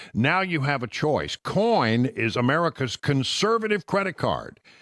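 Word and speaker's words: Coign: unusual spelling cig GN the g is silent but you got to put it in there to get to the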